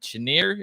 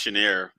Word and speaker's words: Cheniere: pronounce it either um it sounds French so who knows but I think it's pronounced cheniere um or cheniere but uh either way the